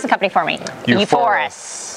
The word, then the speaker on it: uForis: uForis. It's a cool name. VR. VR. Sounds like euphoria.